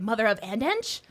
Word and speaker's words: Mother Of x Ensh: was like is it mother of andch and no mother of which I like better and it sounds that rolls off the tongue better as you said the X is silent.